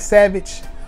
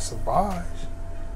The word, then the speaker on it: Sauvage: And people always mispronounce it when they find out I do fragrances. You got that Savage? I said, I got Sauvage.